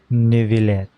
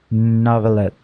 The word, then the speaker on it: Neuvillette: and honorable Chief Justice Neuvillette. Neuvillette. That's how you say his name. Thought it was Novelette.